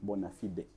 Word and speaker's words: bona fide: fide chigambo cha latin its actual pronunciation in latin is bona fide na abazungu ngabo bamani